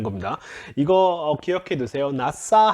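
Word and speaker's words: נָשָׂא: 나싸 하면은 이거 씬입니다. 쉰이 아니라 나싸 하면은 들어올리다.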